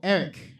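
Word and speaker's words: Eriq: Pretend that last letter is a C. Oh, Eric.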